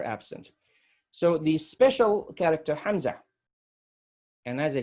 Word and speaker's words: Hamza: beginning of this paragraph that Hamza indicates a glottal stop what does it mean it means uh-oh you have to stop the other as if you're choking in a throat you cannot pronounce and